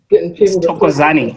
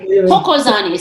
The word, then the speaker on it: Thokozani: Tokozani. Tokozani. So we, just like in Spanish, we don't say the H. We say Tokozani.